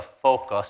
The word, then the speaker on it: FOQA: didn't know I'm like I kept pronouncing like f-o-q-a this morning we were jogging and uh Joe asked me it's like what is that fo and I'm like I couldn't even pronounce it so Focus sounds pretty good uh make acronyms acronyms